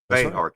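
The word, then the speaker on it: Bexar: Anton yeah they're in Bear County spelled with an X pronounced with an H Bear County um and um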